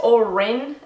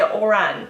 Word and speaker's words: Oran: Some people pronounce this Orin, but usually people say Oran, so you can kind of say Oran. You have to say it kind of quickly, Oran, to get it right. But this is traditionally a male name, and everyone I know who has this name pronounces it Oran, but there are different ways that you can say it, but I think that is the most common way.